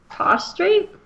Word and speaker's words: prostrate: Prostrate? Prostrate? How do you say that word? Prostrate. But it sounds like prostate, so it's funny.